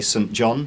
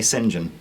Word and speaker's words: St John: you pronounce it but I like to say St John some people say singen if you were in